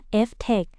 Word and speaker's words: FTEC: ทุน รวม ดัชนี ที่ ชื่อ ว่า FTEC อ่าน ว่า Ftech หรือ ชื่อ เต็ม ๆ